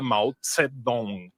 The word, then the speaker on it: Zedong: Hoje em dia a gente grava Zedong, Z-E-D-O-N-G, e pronuncia Mao Zedong, né? Que é muito mais próxima à pronúncia original na própria língua deles.